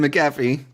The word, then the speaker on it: McAfee: night from listener McAfee. I'm sure I'm having a DW moment, now. how do you pronounce your goddamn name? I bet it's McAfee. McAfee There we go.